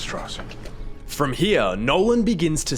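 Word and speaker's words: Strauss: at the head of their first encounter it's pronounced stoss from here Nolan begins to stack slights against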